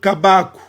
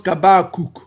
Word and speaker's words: Habakkuk: Donc, cette consonne finale, on ne va pas le prononcer. Maintenant, comment on prononce le nom? On prononce Kabaku. Kabaku. D'ailleurs, Edom a bien prononcé cela ici. Si vous voyez phonétique, Kabaku. Et si nous allons dans Blue Letter 2265, c'est toujours là. 2265, prononciation, vous avez Kabaku. Et ils prononcent Kabakuk.